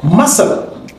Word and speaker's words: muscle: is silent number ten muscle C is silent in muscle 11 scissors C is